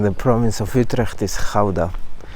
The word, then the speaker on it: Gouda: And another important city in the province of Utrecht is Gouda, or Gouda if you don't pronounce it the Dutch way.